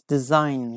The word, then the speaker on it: design: we don't pronounce we don't pronounce G here yes design design is a correct